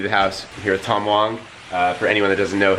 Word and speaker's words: Wang: It's actually W-A-N-G is pronounced Wong.